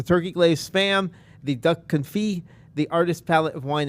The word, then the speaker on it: confit: Of the refreshment port, we have the duck confit poutine. Over at, did I pronounce that right? Yeah, that's right. All right, good. It's a silent T, right?